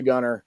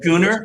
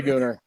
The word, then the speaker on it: Gooner: shut up so and that's pronounced goar by the way not Gunner yes yes it is a gooner yeah my daughter's a